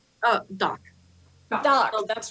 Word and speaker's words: Dak: And sorry, and I was thinking about calling her Doc, but it's spelled D-A-K because she is from Great Britain originally.